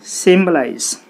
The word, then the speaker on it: symbolize: There are three syllables and we need to put the stress on the third syllable from the end. So what is the third syllable from the end? 1, 2, 3. So symbolize.